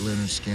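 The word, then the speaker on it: Lynyrd Skynyrd: The reason it was called Pronounce was because people would see the name and they didn't know how to pronounce that. With all the Y's, it didn't look like Leonard Skinner. It just looked like Leinard, Skynard.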